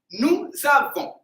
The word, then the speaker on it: nous avons: In the present tense, nous avons. Okay, so there is no I in the pronunciation.